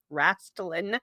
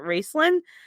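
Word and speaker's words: Raistlin: it until later that the name is actually pronounced Rastlin, not Racelin.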